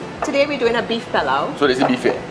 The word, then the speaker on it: pilau: And today, Chef Debbie is going to be teaching me how to make pilau, or some people say pilau. Correct. How do you say it? I say pilau.